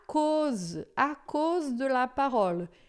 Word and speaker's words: cause: Vous êtes déjà pur à cause de la parole. Esse AU em francês é sempre som de O.